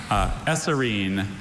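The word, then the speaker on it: eserine: Esserine?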